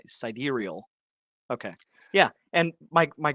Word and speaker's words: sidereal: wrong yeah yeah see somebody says side ear real sidereal okay yeah and my